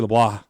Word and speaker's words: LeBlanc: Kyle Hilliard Blake Hester Wesley LeBlanc that's that's how Wesley says it should be pronounced so I'm giving a shot uh Wesley LeBlanc LeBlanc it sounds weird